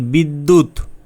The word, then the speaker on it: বিদ্যুৎ: যেমন বিদ্যুৎ বিদ্যা ইত্যাদি।